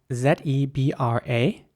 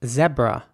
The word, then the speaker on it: zebra: now this animal is pronounced zebra in british english not by everyone but many people would say zebra in american english it would be more like zebra so the e at the beginning would be pronounced once again